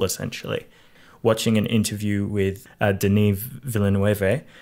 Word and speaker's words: Denis Villeneuve: watching an interview with de Neve Villanueva I think is how you pronounce his name not Dennis villain you as I used to say it mm-hmm but he